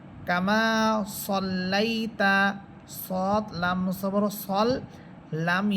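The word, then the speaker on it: كما صليت: অনেকে কামা সাল্লাই বলে, এটা কিন্তু সিন না। যদি এটা সিন হতো তাহলে সা হতো, কিন্তু যেহেতু এটা সদ, এই জন্য এটাকে মোটা করে পড়বেন এবং আকারের উচ্চারণ ছাড়া পড়বেন।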